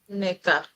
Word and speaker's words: Neka: Okay, because there was a lady I heard who was from Sierra Leone, and she said it's Ineka. Neka. She That's said that's it's if you're pronouncing Ineka, it in the traditional way, and people tend to mispronounce. but it's Neka. Neka. Say it again. Mm, Neka. Neka. So the first Yeah. letter Yes. says n, and the next one ne. Mm, ne.